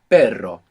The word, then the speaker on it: perro: pronounce this Double R so the word for but in Spanish is pero pero pero p-e-r-o and the word for dog is perro p-e-r-o pero so that's the difference you have normal and